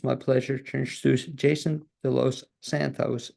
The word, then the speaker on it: De Los Santos: pleasure to introduce Jason de Los Santos. Am I pronouncing it correct? Help You me on said it perfectly. I would have thought that. you were a native Spanish speaker by that pronunciation.